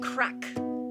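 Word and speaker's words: craic: we're having some good crack okay crack is different in ireland than it is in the united states it's spelled c-r-a-i-c and it means good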